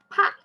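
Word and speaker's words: 派: This one, just only one pronunciation is 颇爱 pie. And this I, the pronunciation, just like we say like, I.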